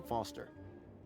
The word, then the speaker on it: Foster: so it does i'm foster i'll remember that easy because your name rhymes with fossil and you're old thanks